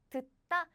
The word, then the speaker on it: 듣다: And this too, this is not 다, this is 따, 따, as in 듣다, 듣다.